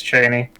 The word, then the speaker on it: Chani: Okay, because I always say Chani. Because I always read it as Chani, but I've had, I think in our last podcast and a couple times I've seen it spelled out phonetically, it's Cheney.